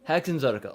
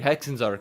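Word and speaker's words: Hexenzirkel: The Hexen Circle trials are no Hexenzarkel. Okay, so I was saying it right. Hexenzarkel.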